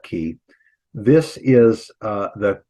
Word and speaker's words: chi: They'll call it chi, but we'll call it key.